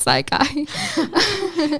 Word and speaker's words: Psi Chi: It is We do pronounce it Psi Chi.